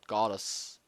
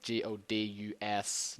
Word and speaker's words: Godus: the god in the game they're making called Goddess. It's like Godus, not goddess, and Goddes now. Okay. That's the way it's pronounced now.